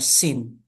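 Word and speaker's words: שׂין: And if there is a letter on the left side, and that would be a sin.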